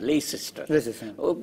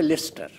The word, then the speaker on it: Leicester: আমি যে বিশ্ববিদ্যালয় থেকে PhD করলাম তার হচ্ছে LEICESTER, লেইসেস্টার, ওটা হচ্ছে লেস্টার।